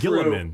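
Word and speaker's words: Guilliman: Gilliman.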